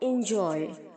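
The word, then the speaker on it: enjoy: लेकिन जब आप इसे बेस फॉर्म में बोलेंगे तो इंजॉय, ओके।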